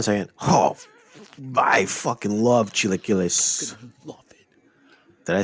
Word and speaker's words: chilaquiles: Oh, I fucking love chilaquiles.